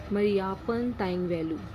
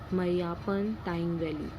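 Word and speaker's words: Mariyappan Thangavelu: So first picture is ऑफ मरियापन तांगवेलु. मरियापन तांगवेलु he belongs to विस्पोर्ट high jump. इन्होंने Paralympic में high jump में gold medal achieve किया था 2016 में. मरियापन तांगवेलु.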